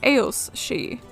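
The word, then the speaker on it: aos sí: mounds and because it's uh Celtic languages she is spelled s i d h e alternatively she is part of the term AOS she spelled a o SS I and it's a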